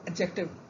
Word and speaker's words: adjective: As D is silent over here as it is in judge, dodge. So adjective.